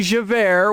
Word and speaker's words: Javert: that would be Javert which is j-a-v-e-r-t and is already pronounced as air you know two former